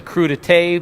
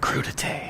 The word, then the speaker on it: crudité: We're going to build a couple of really big charcuterie boards, some crudité. A couple big charcuterie boards, a crudité board, which is a vegetable board.